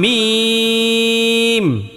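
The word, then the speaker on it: ميم: মিমের উচ্চারণ যদি আমরা ভাইঙ্গা লেখেন তাহলে মিম ইয়াজের মি মিম দুই পেশ মুন মিমুন হয়। তো মিমের মধ্যে যদি ওয়াকফ করি মধ্যে আরজি হয়ে যায় তিন আলি পরিমাণ টান মিম সবাই এই হইছে মাশাল্লাহ।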